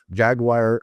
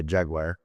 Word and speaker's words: Jaguar: Jaguar, I say Jaguar. Jaguar Land Rover. We always say Jaguar, you see, so that's a slight difference in the Americanisms.